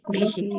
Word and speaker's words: परमर्षिभिः: विसर्ग का उच्चारण कैसे करेंगे नीलम माता जी? सांस कैसे छोड़ेंगे विसर्ग में, जो उससे पहले वाला है? भीहि। भी नहीं, भीहि।